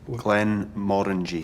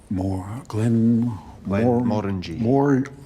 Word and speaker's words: Glenmorangie: which is, like many Scotch whisky brands, often butchered. They did it in a humorous way. How do you... Glenmorangie. Glenmorangie.